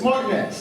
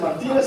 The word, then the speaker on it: Martinez: of my school was Martinez Elementary I was mispronouncing it it's Martinez I understand that now but at that day I thought I was at Martinez Elementary and someone here surely will speak my